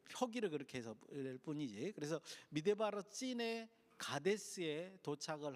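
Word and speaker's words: מדבר צין: 여기에 나와 있는 신광야는 히브리어는 찐입니다. 찐. 그래서 찐광야, 미드바르 찐이라고 해야 됩니다. 발음이 이제 표기를 그렇게 해서 뿐이지. 그래서 미드바르 찐의 가데스에 도착을 한 것을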